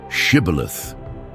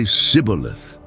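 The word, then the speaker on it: shibboleth: Say the word shibilith. But the Ephraites couldn't pronounce it right. They'd say sibilith.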